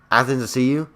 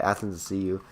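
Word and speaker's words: Athanasiou: I think it's like Athens to see you. Yeah, that's how you say it. Athens to see you.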